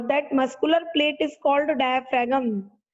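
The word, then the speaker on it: diaphragm: Muscular plate is called डायफ्रागम। वैसे डायफ्राम बोलते हैं पर जी साइलेंट होता है, तो हम जी को प्रोनाउंस नहीं करते।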